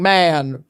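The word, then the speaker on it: Mahon: the misfortune of meeting man. Never meet a man. Never meet a man. I want to point out that man in this case is spelled M-A-H-O-N.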